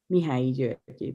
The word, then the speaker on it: Mihály György: So just so what Charlie said about names, I would pronounce my name in Hungarian. It would be György, Mihály György, because we switch.